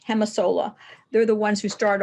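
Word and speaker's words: Gemasolar: m a solar and that g is pronounced like an H hemis Sola they're the ones who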